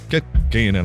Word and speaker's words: Kerkeinen: Juho Shumisuuttari, Joni Hieros Lampinen, Ruope Rolle Takala, Long Lonkis Nguyen, and Jiri Yumi Kerkeinen. Kerkeinen, actually, rather, with a bit more accent on the K, I suppose.